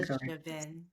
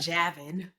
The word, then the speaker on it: Javven: up your So Javven and I hope I'm pronouncing his name right. Y'all can Javven. It wasn't Javin. Yeah, that would be the American way of saying it.